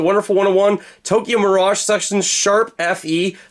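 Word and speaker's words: ♯FE: 101 Tokyo Mirage section sharp Fe that is the way you pronounce it apparently all of those got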